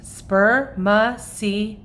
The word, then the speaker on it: spermaceti: It's called spermaceti. You say it like this, spermaceti.